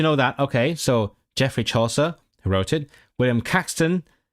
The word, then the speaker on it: Chaucer: Is it I've never seen it heard it pronounced aloud. It's Chaucser.